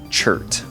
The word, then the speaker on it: chert: So anyways, I relearned it, at least, and it's pronounced chert.